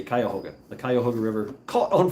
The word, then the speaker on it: Cuyahoga: burnt uh cuyahoga uh i pronounce it cuyahoga because that's the way it's found but they say cuyahoga the kyohoga river caught